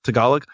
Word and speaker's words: Tagalog: In how do you pronounce it? Is it Tagalog? Tagalog.